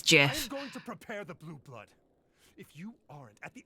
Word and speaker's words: GIF: world it's an acronym acronyms have their own independent pronunciation from the words they represent GIF is correct yeah yeah how I feel about it but the Creator says it's Jiff if you aren't at